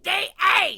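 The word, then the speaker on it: Deshayes: are your favorite French conjoined twins who totally did not cause a whole bunch of terrible bugs during their launch. Please welcome the twins, Charlotte and Victor How do you pronounce? It's D.I., you idiot!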